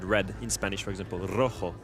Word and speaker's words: rojo: in Spanish, for example, rojo. You have 2 different sounds. You have ro, you need to roll your R, and then you have ho that comes from the throat.